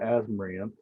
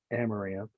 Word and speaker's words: amaranth: height of my whatever they call an asmram i'm saying it wrong amaranth the height of the